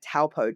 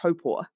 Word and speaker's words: Taupo: I grew up calling it Taupo, Taupo, Taupo, and it's actually pronounced Topor.